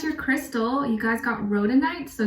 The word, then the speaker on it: rhodonite: and then as your crystal you guys got rhoda knight so it's spelled r-h-o-d-o-n-i-t-e it's associated with the heart chakra